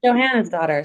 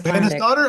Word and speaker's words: Johannesdottir: So, the daughter of Johannes because I'm Johanna's daughter. I could do that, right? Johanna's daughter. Yeah. Yeah. Yeah. It doesn't spell that, but basically, but it's like that. That's That's an easy one.